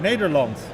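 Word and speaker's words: Nederland: round yeah so now we're going to talk about nader longs which is how we pronunciate the netherlands of course with the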